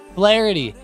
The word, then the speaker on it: Flaherty: Flaherty. Yeah, I don't think that that's going to be a very good night for the Dodgers tonight. Yeah. I'm not a fan. I think Flaherty's going to get smoked.